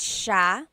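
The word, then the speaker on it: siya: you are nice mait Ka and then mait sha he or she mait sha a couple things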